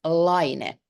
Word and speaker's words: Laine: is a good way but actually we pronounce it l l and uh the meaning